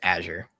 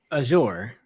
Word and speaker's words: Azure: I am 99% sure it's Azure.